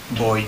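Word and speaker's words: voy: just will start with boy okay now it starts with a V but it's pronounced with as a billion as all all Spanish so boy now when he's talking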